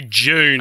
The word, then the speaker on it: Dune: And which all of us from Australia and New Zealand would say June. And that is going to be one of the many, many hard to pronounce words in this report. Right. It's just D-U-N-E. How are you meant to say June? So I guess like we, from this part of the world, we push D-U's and T-U's together to